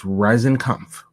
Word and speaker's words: Riesenkampff: It's Riesenkampff.